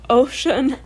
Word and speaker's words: Oshun: It is spelled Oshun, so I'm assuming it's pronounced like... That one you got. Yes. So Ocean is a goddess connected to rivers, streams, and water.